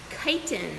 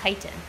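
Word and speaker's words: chiton: So this is a gumboot chitin, and chitin is spelled C-H-I-T-O-N. Maybe later you can practice writing that one, because the C-H makes a K sound.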